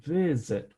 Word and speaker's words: visit: consonant it's targeted targeting visit there's is the same thing visit we stress the first syllable so we don't double